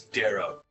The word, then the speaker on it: Darrow: My name's Darrow. It's an arrow. Darrow Garen D. goes D, to his yeah. laptop. It's just D and an arrow.